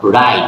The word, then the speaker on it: write: Now write, W-R-I-T, write, আমরা কি বলবো? write, W-টাকে omit করে দিয়ে আমরা বলবো write, W-R-I-T, বানান ঠিক আছে, বাট ইন স্পিকিং আমরা কি বলবো?